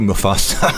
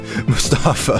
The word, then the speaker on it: Mustafa: Mustafa, I keep calling to call you Mfasta. I'm sorry, Mustafa.